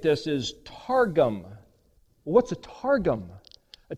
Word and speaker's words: targum: It's that same word, but if you know how to pronunciate this, is targum.